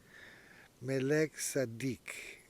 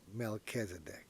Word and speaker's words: Melchizedek: Melek-tsadiq. Now in English, they call it Melchizedek. - Yup. - But it is Melek-tsadiq, the Righteous King, tsadiq.